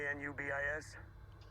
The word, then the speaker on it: Anubis: Spelled Anubis. Uh-huh. It's pronounced Anubis, Egyptian god of the dead.